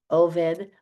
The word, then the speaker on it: Obed: Oed I say oed because that's the proper Hebrew way to say it.